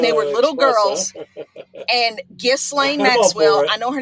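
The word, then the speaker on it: Ghislaine: And Gain Maxwell, I know her name is Gilain. Don't even bother me about the pronunciation.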